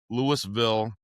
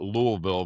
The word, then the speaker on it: Louisville: and and I'm going to go rent a house in Lewisville, Colorado. Okay. They don't call it Louisville there. It's spelled the same way, but they call it Lewisville, right?